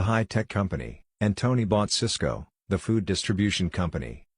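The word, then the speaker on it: Sysco: company and Tony bought Cisco the Food Distribution Company both stocks are pronounced exactly the same while Cisco crashed Cisco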